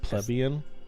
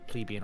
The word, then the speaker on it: plebeian: It's pronounced plebian. No, it's plebeian or plebian. Plebeian. No, it's plebian. I looked it up.